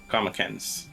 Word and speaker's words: Karmakins: Is it Karmakins, or did I mispronounce it? Kamakens.